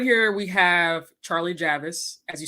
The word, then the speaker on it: Javice: to say her name her name is Charlie Javis and who is Charlie Javis tell us a